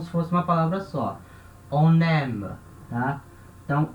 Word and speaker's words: on aime: A gente não fala isso aqui on aime. A gente não fala separado. A gente junta a consoante N com a vogal A, certo? Com o som de N. Então a gente fala on aime.